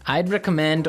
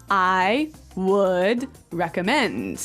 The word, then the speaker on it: I'd recommend: these words right yeah you'll notice that we don't say i would recommend right we use the contraction i'd i'd i'd i'd recommend